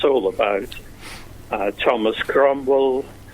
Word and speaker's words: Cromwell: it's all about Thomas Cromwell pronounced crumb by his strains and cream well by the ambassadors to the court they can't quite get their words of crumble particularly correct and so